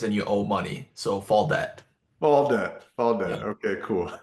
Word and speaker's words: Faldet: But yeah, fall debt is how you Yeah. pronounce it. It's like that actor, Timothy Chalamet. Like he's got the T on the end.